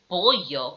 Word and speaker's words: pollo: The two L's beside each other give you the name ella. And these are pronounced like the letter Y, so they give you a y sound. And an example used is pollo, which means chicken.